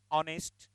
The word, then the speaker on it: honest: But while saying honest, we never use her, we use a sound. Honest, a sound is there.